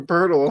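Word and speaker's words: Poeltl: Like every every fan base is like, "Go get Yaka Purle." I'm like, "Uh, wait. Say his name again." Yaka Purle. It's not spelled that way, but that's how I pronounce it.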